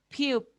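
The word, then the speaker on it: 피읖: Piu. Piu. ¿Vamos? Piu. Kiyo, Piu. Piu. Kiyo, Piu. Kiyo, Piu. Kiyo, Aspirada, ¿no? Piu. Piu. Kiyo, Muy bien. Igual hace el sonido de la P, ¿ya?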